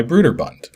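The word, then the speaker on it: Brøderbund: developed and published by Bruder bun and yes it's pronounced with an oo sound and not an o sound a few people over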